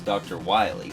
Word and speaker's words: Wily: stop this guy's rival whose name is dr wily but it's spelled like this so it looks like willie anyway but when it